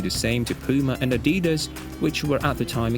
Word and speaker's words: Adidas: shoes could do the same to Puma and Adidas, which were at the time extremely popular in America.